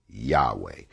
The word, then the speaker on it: Yahweh: spells w excuse me y a w h pronounced yahweh which is the hebrew